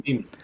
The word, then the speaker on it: Hueneme: ports of Oakland, Tacoma, Seattle, and I can't pronounce this word, Hueneme. Thank you. Hueneme.